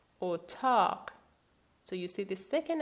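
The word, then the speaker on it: اتاق: In the case of O, remember it's a short vowel. We have the example otaq, otaq.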